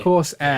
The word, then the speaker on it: Corsair: Yeah, I do say crosshair. I'm not gonna lie. I say crosshair, even though I'm aware I'm saying it wrong.